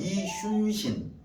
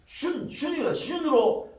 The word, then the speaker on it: 이순신: 우리가 내가 발음 잘 못하는 거 이순신, 이순신이라고 하기 진짜 어려워요. 당연히 어떻게 되냐면 앞에 상시옷이 될 수밖에 없어. 이순신이라고 해야 편하게 발음할 수밖에 없는 게라. 슌으로 발음할 수밖에 없어요. 왜? 앞 뒤에 시옷이 있기 때문에.